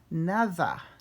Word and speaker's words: nada: like it's nada, but if you pronounce the D like a D in English, it's going to sound like N-A-R-A, so we want to actually say the D like the, so nada, nada, nothing.